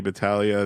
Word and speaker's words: Battaglia: I am at Battaglia that's ba t ta g Li a get the silent G there and my podcast is